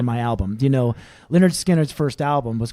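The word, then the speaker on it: Lynyrd Skynyrd: Do you know Leonard Skannard's first album was called Pronounced Leonard Skannard, and I thought it'd be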